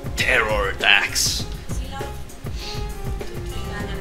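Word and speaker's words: Pterrordax: You can just pronounce it without the P, and it's Terror Dax.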